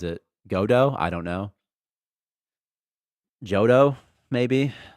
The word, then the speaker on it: Godot: It's pronounced Godot, like the R.